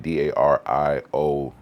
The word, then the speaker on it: Darrius: the way it sounds, Darius is probably like the ending a little bit different. Yeah, because how it's spelled in Spanish is like Darios, I think.